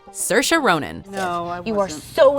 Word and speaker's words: Saoirse: say Saoirse or even Sarah but as explained to Stephen Colbert MS Ronan's given name is pronounced Saoirse like inertia of course approaching it